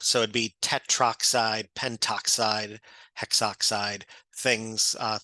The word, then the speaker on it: tetroxide: The one little thing, especially just for oxygen, it's difficult to enunciate it would be difficult to say or pronounce tetra oxide. So many times that would be the A and the O. The A is dropped.